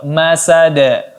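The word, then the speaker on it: مسد: Iya, masada. Ya, tidak usah ditahan karena dia tidak ada qalqalah. Masada.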